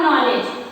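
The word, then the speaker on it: knowledge: Knife और नॉलेज, परंतु उच्चारण तो हम नाइफ कर रहे हैं, नॉलेज कर रहे हैं, परंतु के वर्ड लिखा कैसे गया है? कनाइफ, कनॉलेज।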